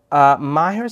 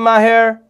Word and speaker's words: Maher: Assalamu alaikum, Maher. Are you Maher like Maher Zain? No? Is it a different, how do you say your name? Like Maher Zain.